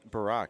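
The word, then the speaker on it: Burek: I guess the U is silent.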